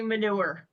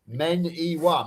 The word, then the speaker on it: Maniwa: I don't care as long as they don't call me manure. Yeah, no, it's 3 syllables. Maniwa.